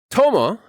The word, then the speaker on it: tomo: do with death dying killing next we have Toma that's t o m o and Tomo is